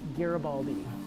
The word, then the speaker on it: Garibaldi: So someone asked, how do you pronounce my name? Pronounce it Garibaldi. That's how my last name is pronounced.